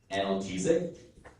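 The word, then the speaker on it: analgesic: There are two pronunciations already. The word is analesic or Analesic analesic analesic.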